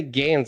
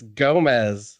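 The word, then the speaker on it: Gamez: best castlevania game for me you always say games it's gomez sebastian gomez it's g-a-m-e-z yeah it's it's pronounced gomez oh well yeah i just i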